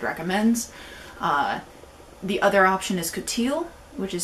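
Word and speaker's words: coutil: that rent threaded recommends the other option is coteal which is spelled c-o-u-t-i-l it is an extremely uh taut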